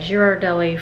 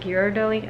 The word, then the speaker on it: Ghirardelli: Uh, Jirardelli for me. How do you say it? Ghirardelli. I say Jirardelli because I'm like, what the word?